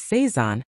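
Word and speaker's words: Sézane: Brand four, Sezane. Fourth, Sezane, French brand and the pronunciation is Seaison with a soft emphasis. Nothing sharp about it.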